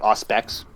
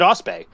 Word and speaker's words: Auspex: But when I was a kid, I called it Ospe. And I remember being challenged, just kind of like, what language ends with a silent X?